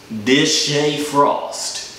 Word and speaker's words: DeShae Frost: It's pronounced Deshae Frost.